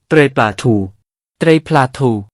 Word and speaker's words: ត្រីប្លាធូ: ก็เข้าไปในกัมพูชา ชาวกัมพูชาเรียก ปลาทู เหมือนกัน แต่เนื่องจากคำว่า ปลา ภาษา เขมร ออกเสียงว่า เตร็ย จึงเรียกว่า เตร็ยปลาทู ไม่ได้เรียกว่า เตร็ยทู นะครับ คำว่า เตร็ยปลาทู คนเขมรรู้จักกันทั้งนั้น ต่อมามีคำหนึ่งที่เรียกกัน